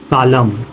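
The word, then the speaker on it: column: एन एक साथ आया, इसमें क्या है आपका एन शब्द साइलेंट है। जैसे देखो आटम, कालम, डैम, हाइम।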